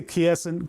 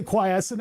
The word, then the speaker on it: quiescent: pronounce squirrel squal if you walk up to me and you say quietson I'm going to slap you in the mouth right all right back